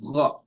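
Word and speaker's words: غ: And also gha. So not ga. Probably say again. It's not again, it's gha. Gha. So you can say it after me. So this is gonna be gha, right?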